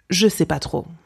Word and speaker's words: je sais pas: Okay, so when you're just unsure, you could say je ne sais pas trop, je ne sais pas trop, but simply pronounced je sais pas trop, je sais pas trop.